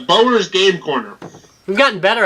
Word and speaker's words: Bower's: It's Bower's Game Corner. We've gotten better at that. Have you noticed that?